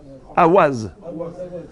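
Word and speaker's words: אווז: Avaz. Regardez même en hébreu, comment on écrit Avaz. Aleph, Vav, Vav. Dans la prononciation gerbienne, comment vous dites Avaz? Awaz.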